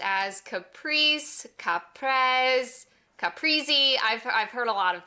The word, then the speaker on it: caprese: This salad name often gets mispronounced as caprese, caprese, caprese.